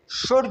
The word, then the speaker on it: should: पहले तो ये देख ले कि ये शुड जो है ये मोडाल है, मॉडल वर्ब जिसे हम कहते हैं। एक बात ये मॉडल वर्ब है। दूसरा, इसमें ये एल जो है ये साइलेंट है।